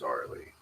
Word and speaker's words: Arileigh: Yes, her name is Arileigh.